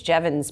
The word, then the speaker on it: Jevons: And I've been trying to figure out how to pronounce this. Jevons, I think it's Jevons paradox.